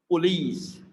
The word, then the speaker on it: police: second syllable, I see it's not like short, it's not police, it's police, police. So it's like bit of, we are stretching it, the second syllable, E, is bit of like E sound, a longer vowel sound, police, police.